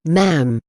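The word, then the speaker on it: Ma'am: your majesty and subsequently mam pronounced with a shorta as an gem for male members of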